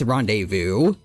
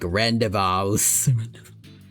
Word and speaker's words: rendezvous: Yeah, like at least as a kid, I always thought it supposed to be like rendevous, but he did rende vu from the start.